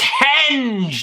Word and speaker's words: henge: living Rock of stoneage it's henge there is an H there all right right I